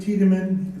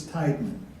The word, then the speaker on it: Tiedemann: I'm Nick Tiedemann. If you see my name, you'll think it's Tideman.